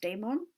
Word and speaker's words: daimon: And lachesis helps you choose your angel, or your daimon, as the Greeks would call it, sometimes pronounced daemon, not to be confused with the Christian word demon, although there's probably a